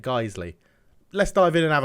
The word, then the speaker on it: Guiseley: it and guys a geisley geisley I'm pretty sure is how you say it geisley let's dive in and